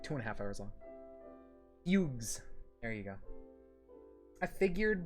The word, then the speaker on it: Fugue: Fugues. There you go. I figured, but always forgot. Fugue. I guess if there's only one, it would be fugue, right?